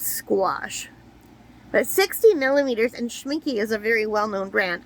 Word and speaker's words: Schmincke: Yeah, it's like rhymes with squash. But 60 millimeters, and Schmincke is a very well-known brand.